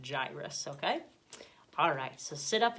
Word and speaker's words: Jairus: man in this story some people pronounce his name Jairus and some people I've heard save Jarius but I'm going to pronounce it gyrus okay alright so sit